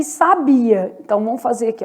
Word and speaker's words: sabia: Aí, eu estou com sábia e sabia. Então, vamos fazer aqui, ó, sabia. Sabia separa, ó, hiato. São sílabas separadas.